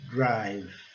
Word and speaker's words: drive: Drive. Mesmo caso, o I com som de I, que é o som básico, e o E silencioso.